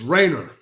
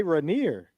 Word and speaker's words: Rainer: It's It's Rainer. Rainer. Okay. That's how I always pronounced it growing up, but I feel like I heard people say Reneer. People do say Reneer sometimes, but yeah, you